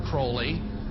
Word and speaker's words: Crowley: he likes to bring have his name pronounced crowley to rhyme with holy and uh the satanists